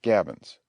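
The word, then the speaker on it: gabions: The word is pronounced gabbins.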